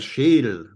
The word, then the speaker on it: Schädel: Der Schädel, the skull. Der Schädel, the skull. Again, don't ignore the umlaut.